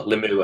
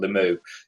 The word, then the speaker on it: Limoux: So we were talking off air about how do you pronounce the club in France? Limoux? Limux? Limux. We're not too sure. Limoux, I think.